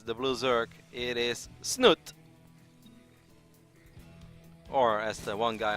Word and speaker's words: Snute: It is Snute. Or, as the one guy on Twitter really wants me to pronounce it, Snute.